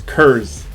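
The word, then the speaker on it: Kurze: due to assassination and i've also been pronouncing his name wrong it's kurz um apparently uh there's a colonel kurtz um i think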